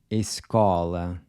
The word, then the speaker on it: escola: The next word is escola. This is an open O. Escola. Notice how open your mouth is when you say escola.